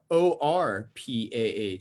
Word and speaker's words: Orpah: Oprah Winfrey actually spells her name O-R-P-A-H. It's actually Orpah Winfrey.